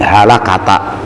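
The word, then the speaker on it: هلكة: Kata-kata halakah bacanya bifathi hurufihi halakata. Oh, jadi fathah semua. Halaka fathah.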